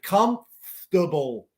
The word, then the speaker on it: comfortable: is a word where we drop a syllable we don't say comfortable we say comfortable so cortamos Como comfortable